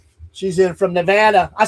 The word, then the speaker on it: Nevada: She's in from Nevada.